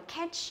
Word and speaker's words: catch: ta hay đọc là catch a bus, nó phải đọc thế là sai, nhớ chưa? Nhớ là không đọc là e mà chúng ta phải đọc nó là e bẹt, tức là catch, catch.